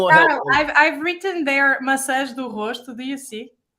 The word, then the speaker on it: massa: I should say massa. Yeah. Massa perfeita. Otherwise, it's pasta. That's something different. That's pasta.